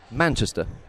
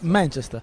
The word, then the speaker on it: Manchester: Anche lì, se tu metti l'accento sulla... Ma Esatto. va benissimo, è sempre più sulla prima. Manchester. Ah, vedi, cazzo. Manchester.